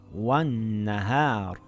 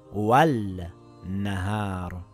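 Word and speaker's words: وَالنَّهَارِ: So the lam becomes silent and we read it as wan-nahar and not wal-nahar.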